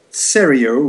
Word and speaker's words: Seriau: clear just spell the surname so it's cereal which is spelled s for Sierra e-r-i-a-u super so it's